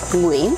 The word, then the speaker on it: Nguyen: We say, and it's not that. Nguyen, Say it again.